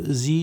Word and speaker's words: Sie: Dear students, अगर एस के बाद वावल हरूफ में से कोई एक भी आ जाए तो जो एस है वो जेड की आवाज़ प्रोनाउंस करता है। और हम जानते हैं कि वावल हरूफ 5 होते हैं। वावल हरूफ 5 कौन से हैं? AEIOU। तो इसीलिए ये चूँकि जी में एस के बाद चूँकि वावल हरूफ आई आ रहा है, लिहाजा हम इस को हम जी प्रोनाउंस करेंगे।